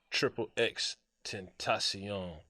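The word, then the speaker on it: XXXTentacion: value but let's say russia sold like uh triple x tentacion yeah that's how you say his name he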